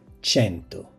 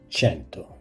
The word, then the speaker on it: cento: Repeat, cento. It is simply said cento, so never place in front of cento uno, as you do in English 100.